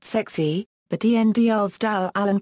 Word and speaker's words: SCSI: intended to be pronounced sexy but dl's Dal Allen pronounced the new acronym as scuzzy and that stuck a number of companies